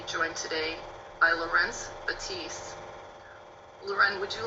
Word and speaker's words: Leuren: Mine is the French pronunciation, Leuren, and his is the Dutch pronunciation, Laurence.